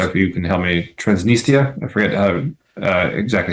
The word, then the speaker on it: Transnistria: And I always mispronounce the name, so if you can help me, Transnistria, I forget exactly how to pronounce it. Transnistria is in English, yeah.